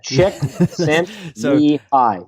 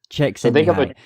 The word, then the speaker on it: Csikszentmihalyi: Yeah, just think of a chick, baby chicken, Sent, S-E-N-T, me, and then hi, H-I.